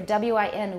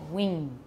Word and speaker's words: win: There was one student who constantly pronounced for W-I-N, win. She constantly said wing. Wing, Lulu, that's you, okay? Wing. For win, win, and she just couldn't switch it.